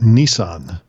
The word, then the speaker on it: Nisan: of the month of Nisan to be followed by the month of Toyota no but it's it's pronounced exactly the same as the Japanese car of the month of